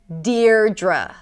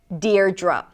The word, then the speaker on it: Deidre: You start with the syllable 'deer', 'deer', like "my dear". And then the second syllable is 'druh', 'druh'. 'deer-druh'. Deidre.